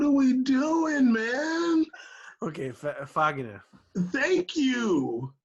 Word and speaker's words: Fagner: Caesar, pronounce it how y'all do in Portuguese for real. Fagner.